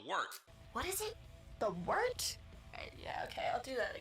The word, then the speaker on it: Wort: The wort? Yeah, okay, I'll do that again. This is The Wort on Govs Radio. It is the Wort. Not wart, not fort, not short. The Wort.